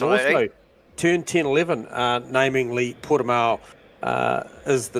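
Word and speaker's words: Portimão: We're at, I'm not sure how to pronounce it. I'm going to call... Algarve or Portimao. It is Portimao.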